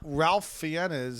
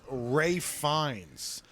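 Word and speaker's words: Ralph Fiennes: you call him Bild defo I didn't know Ralph fenes his name fines is Ray fines I've been calling him Ralph fenes for years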